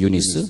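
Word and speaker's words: Eunice: 그리고 할머니 로이스, 이제 로이스는 이제 미국 발음하고 같은데, 유니게는 윤이 그러잖아. 윤이 혹은 윤이, 윤희 이렇게 이름을 지면은 그것을 미국 이름을 좀 바꿀 수 있어요. 유니게. 근데 뭐냐면 유니스거든요. 유니스.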